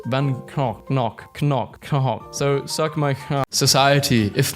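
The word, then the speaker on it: Van Gogh: Vincent Van Go is Dutch, so his name is actually pronounced Van Knock.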